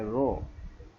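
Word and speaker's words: rho: এটাকে বলে রো, এটাকে রো বলে, রো। আমি যেভাবে আমরা প্রোনাউন্স করব সেভাবে লিখতেছি, আর ও ই, এটার উচ্চারণ রো।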